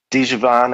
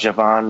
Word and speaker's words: Djavan: Djavan, I think it's pronounced Javan, makes me feel better.